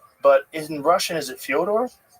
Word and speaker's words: Fedor: I'm like, "Yeah, well that's kind of the accepted American pronunciation of Fodor, though." So, I I wanted to ask you if it was Fodor.